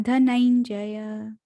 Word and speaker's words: धनंजय: जो है धनंजय, नहीं जय, हाँ धनंजय।